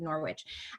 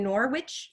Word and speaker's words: Norwich: in early 1400s in Norwich, England. Norwich, I think the W is silent. Norwich, England.